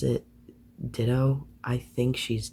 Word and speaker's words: Dido: Next album is, I pronounce it Ditto. I think she's Dido.